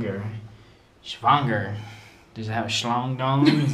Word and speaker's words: schwanger: Stop it. You're saying it wrong. Schwanger? The W's are pronounced like V's. Schwanger. Remember? Schwanger.